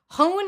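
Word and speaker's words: 本: i don't know which they ask us to pronounce it as um hohn in japanese means book great so even better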